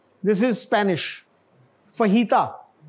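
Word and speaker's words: fajita: This is Spanish फहीता. तो ये जेन में रखिएगा, स्पेनिश में जो जे है ना वो इच बोला जाता है, बहुत काम आएगी ये चीज.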